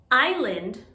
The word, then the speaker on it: island: often confused by students island versus iceland first let's talk about iceland iceland is the country we don't say iceland we say iceland iceland this is island because the s is silent not iceland or eastland